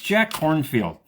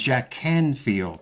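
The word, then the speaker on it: Jack Kornfield: I pronounced it wrong it's Jack cornfield I thought it was Jack Canfield the author from that's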